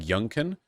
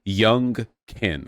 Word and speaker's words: Youngkin: the house and the Senate so uh Greg yunen it's Greg y my sister I always mispronounce that name Glenn yunen Greg Glenn yunen there's something Glenn young kin I feel like that should be memorable but